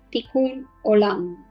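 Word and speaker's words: תיקון עולם: hebreo pero también en español se llama el tikún olam en hebreo se escribe así esto lo voy a poner aquí como se pronuncia ticul hola si es lo que también a muchos hablan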